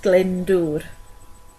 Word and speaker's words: Glyndŵr: So for the twins, it's pronounced Glyndŵr.